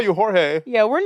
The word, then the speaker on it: Jorge: so I be like is it really George or is it George like Jorge we're fine with calling you jge call you Jorge yeah we're not that like we'll call you Jorge you don't have to